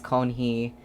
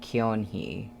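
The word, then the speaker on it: Keonhee: And also a commenter told me that you don't pronounce the first E in Konhee. At least I think that's what they were saying. So I think it's Konhee and not Kyonhee.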